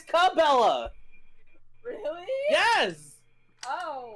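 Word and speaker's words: Cabela's: Wait, it's not pronounced Sabella. You've been pronouncing it Sabella. Yeah, it's Cabella. Really? Yes. Oh, it's always been pronounced Cabella.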